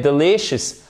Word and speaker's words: delicious: Et je voulais aussi vous mettre delicious. Oh my God, this is delicious, delicious, delicious. Faites bien attention, vous avez l'accent tonique ici, d'accord?